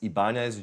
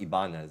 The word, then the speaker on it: Ibanez: It's pronounced Ibanez, I believe, but Ibanez Geo, G-I-O, sound gear.